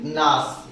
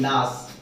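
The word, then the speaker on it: gnash: The next is nas, G-N-A-S-H, this is nas। G silent है, यहाँ पर G silent होते हैं, ठीक है ना।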